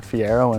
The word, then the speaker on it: Fiero: know they're thinking right say Fiero they think you're pronouncing Ferrari wrong right but no it's a Fiero and we're pretty proud